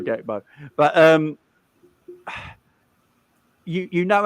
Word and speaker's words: Gakpo: Gakpo deal, apparently, like we're saying his name wrong because they don't use the letter G much in Dutch in Holland, do they? They don't pronounce it as Gakpo or something like that. The way you pronounce it, innit? But yeah, we're English, so we're divs. But we're but we're going to say Gakpo.